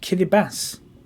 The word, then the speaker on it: Kiribati: It's pronounced Kiribati.